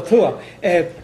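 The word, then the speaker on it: tuath: Well, Tua. Well, it's, I mean, in Ireland it's T, yeah. big Th, Tua. There's no short T in Irish. It's all Th, or else H.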